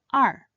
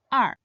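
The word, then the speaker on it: 二: This character is read in the fourth tone R. R. Another character with this unique ping. The character for year R.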